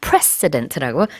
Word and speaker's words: precedent: 이 president랑 발음이 다릅니다. precedent라고 좀 강하게 해주셔야 돼요.